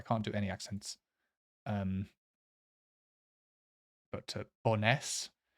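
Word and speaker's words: Bo'ness: But Boness. I think the emphasis, like always, or the stress is always on the second syllable in Scottish places.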